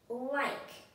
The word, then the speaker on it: like: The E becomes silent. Then the I turns into the long sound. I. O, I, k, like. The E is silent.